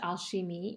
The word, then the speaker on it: Alchimie: The name is Alchimie Forever of Switzerland, and Alchimie is pronounced Alchimie. It is the French pronunciation of the word alchemy.